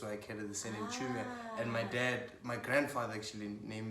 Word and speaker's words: Chiumia: Chumia. Chumia. It's a silent I. Ah. Chumia. It's a CHIUMIA, but you don't pronounce the I.